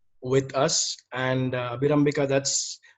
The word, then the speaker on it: Abhirambika: We have Abhirambika with us, and Abhirambika, that's how we pronounce your name.